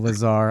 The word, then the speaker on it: Lazare: but with the e on the end Daniel Lazar I pronounced it right and Mousawi and it'll come